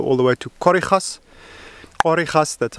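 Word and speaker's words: Khorixas: Korichas, that's how you spell it correctly.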